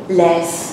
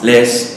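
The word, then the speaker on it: Leys: to pronounce his name Lace Lee lace l e y s Les Les okay Bruno Les has done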